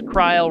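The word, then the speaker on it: Krile: to be safe yeah I think it's cryle rhymes with smile I think that's what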